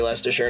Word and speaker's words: Leicestershire: butchered that much worse it's supposed to be Leicestershire Nick Oh bro my